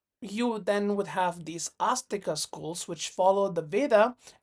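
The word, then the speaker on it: āstika: Notice the A is with a roof on Astika and Nastika. So, it's actually pronounced as a double A.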